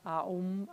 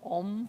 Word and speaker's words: Aum: Aum, it's A-U-M actually, Aum, not Om, but we pronounce it Om, yeah?